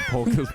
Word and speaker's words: Polk: I gave him Muck because I fully pronounced his name as Puck until I realized his name was Polk. Like hockey puck.